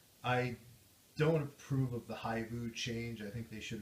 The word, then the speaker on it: Hibu: Whereas like Haibu, I mean, people would mispronounce it. People would Hibu? call in and be like, "Is this Hibu?